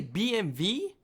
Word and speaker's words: BMW: I got to say BMV. Why not just put a V? W is pronounced V in German and it stands for Min which means Bavarian Engine works.